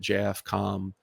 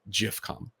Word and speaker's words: JFCOM: for a while, and you would maybe initially look at it and pronounce it JFCOM. It was in fact JIFCOM, which is like, okay, guys, all right, Jif, peanut butter, and okay, I'm with you.